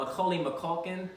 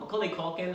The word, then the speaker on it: Macaulay Culkin: lourdes um angela ross um adena porter um macaulay mcculkin mccauley culkin i said his name wrong macaulay culkin from home alone this is his first season